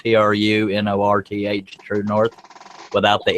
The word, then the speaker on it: TruNorth: Again, it's spelled TRUNORTH, True North, without the E on True, and it's all one word, True North.